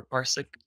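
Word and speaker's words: ParsiQ: openc partner up with parse iq or parsic that's how you say it basically what it does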